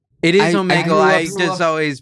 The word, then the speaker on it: Omegle: Oh, is it Omegle? It is Omegle. I just always pronounce it Omegle because I'm weird.